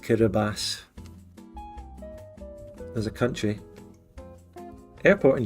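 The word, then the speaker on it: Kiribati: the country which is spelled kabati is actually pronounced kabas there a country airport in German is fluga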